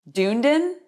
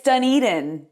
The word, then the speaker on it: Dunedin: Dunedin? It's Dunedin. Safety Harbor isn't as hard to pronounce.